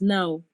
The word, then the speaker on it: gnaw: And then the next one is now. Now, okay? So now is, you may just say no or just now. Now, not so much pronouncing the W like no.